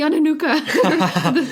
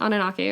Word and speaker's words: Anunnaki: They're the Ananuka, the council. I totally said that wrong. What's it called? How do you pronounce Anunnaki? it? Anunnaki. All right, sorry. So that's how they pronounce it in Ancient Aliens, anyway.